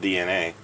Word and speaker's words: DeNA: distribution company in Japan called DNA, which is spelled DENA, like stylized to be like that.